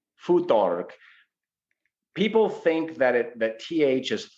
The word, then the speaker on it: Futhark: a hypothetical language, Proto-Germanic follows the more Germanic pronunciation of the TH, which is halfway between a T and a D, which is why the Germans don't call him Thor, they call him Thor.